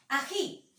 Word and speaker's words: ají: Otro ejemplo, ají. Ají. ¿Dónde vendría a ser la mayor fuerza de voz? En la sílaba ji.